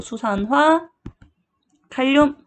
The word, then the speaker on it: 수산화 칼륨: 그래서 수산화 칼륨.